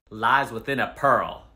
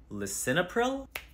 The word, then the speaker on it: lisinopril: what do you take for your blood pressure lies within a pearl what was that lies within a pearl lisinopril that's the one man you're good at this